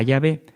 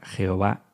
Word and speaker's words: Jehová: Nunca ha existido la palabra Jehová en hebreo. Es decir, que la pronunciación Jehová es una pronunciación defectuosa del nombre de Yahvé. No es ninguna herejía, no es ningún pecado, pero no es correcta.